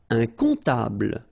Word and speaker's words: comptable: Un comptable, so OM, remember it goes like on, alright? And then, strangely, this P is not pronounced. Un comptable, alright?